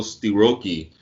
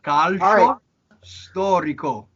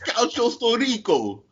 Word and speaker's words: calcio storico: Listen, calcio storico. It's calcio storico.